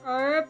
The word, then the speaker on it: herb: It's like herb in America English. The H is silent s where age is silent in this language.